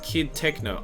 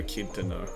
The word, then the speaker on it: Kid Techno: Also, it's pronounced Kid Techno. Oh, Kid Techno. Okay. I prefer Kid to know.